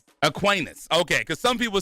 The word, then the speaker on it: Aquinas: And is it Aquinas or Aquinas? Aquinas.